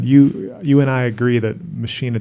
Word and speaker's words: Machina: Okay, the album after that is Machina. And I think you're right. That's the correct pronunciation of that word, but I've always heard Billy refer to that album as Machina.